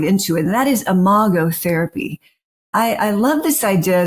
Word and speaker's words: Imago: Well, first of all, thank you for saying Imago. I can't tell you all the various ways people pronounce that. And Imago is from the Latin.